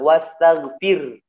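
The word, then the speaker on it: وَاسْتَغْفِرْ: Sama seperti ayat kedua juga, bukan ayat kedua, ayat ketiga, wastaghfir gitu ya. Fir haknya jangan sampai hilang, wastaghfir. Nah, banyaknya baca seperti itu. Ini fatal, salah ya. Haknya harus tetap dikeluarkan. Wastaghfir ya.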